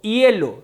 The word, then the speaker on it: hielo: Por ejemplo, si digo hielo, si digo hule, no produce ningún sonido la H.